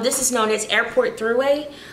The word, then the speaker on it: Thruway: Exit 8, this is known as Airport Thruway. And it's not three-way, spelled like T-H-R-U or T-H-U-R, something like that. Kind of like Thursday, but throughway.